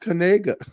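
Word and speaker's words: Knigga: For show says he's got to change his last name, but apparently he it's pronounced Kanega.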